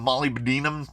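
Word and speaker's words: molybdenum: like so much mold release on it the pronunciation of Molly Binum cracks me up every time Molly Binum is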